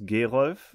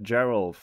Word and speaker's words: Gerolf: My name is Gerolf, and you can pronounce that Gerolf if you like.